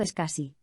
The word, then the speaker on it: SCSI: El SCSI, pronunciado SCSI, Small Computer System Interface,